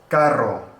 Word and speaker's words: carro: So anytime you see two R's together, you're gonna have that double or triple flap of the tongue, the r, carro, corrida, burro.